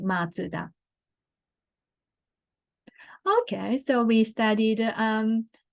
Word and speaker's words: Mazda: in Western People pronounce matter but actually the the correct pronunciation in the car manufacturer name is matsuda like it's originally the family name the um founder of the person's name matsuda okay so we studied